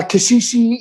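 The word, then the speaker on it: caxixi: uh from africa okay and uh kashishi is um also a funny word because it's really funny as well um it's spelt c a x i x i wow yeah that's cool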